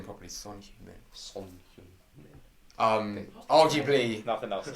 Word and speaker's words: Son Heung-min: Son Heung-min.